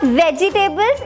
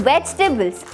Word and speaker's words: vegetables: And not vegetables, it's vegetables.